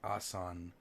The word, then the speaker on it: Aswan: ma'am it's arrested what ok Aswan are pronounced asan lies 934 kilometers south